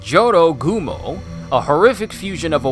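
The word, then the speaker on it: Jorōgumo: temple relationshipgoals it seems Joro gumo pronounced Johto Gumo a horrific fusion of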